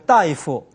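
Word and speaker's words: 大夫: 그래서 따이프 발음을 따로 하지 않고 따이 이렇게 해서 발음을 따이프로 읽어 주면 의사가 됩니다.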